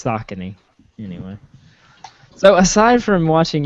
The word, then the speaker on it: Saucony: what you've never okay so connie or is a tennis shoe brand i'm just saying okay now that's that's balcony no it's a county what it's spelled totally different though doesn't matter it sounds the same in my head it's saucony anyway so aside from